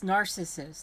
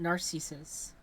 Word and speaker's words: narcissists: the C and narcissist no it's narcissists not Narcissus I've never heard it pronounce that way not naresis either because you know narcissistic that's how it's pronounced it's narcissistic thus narcissists I do think that's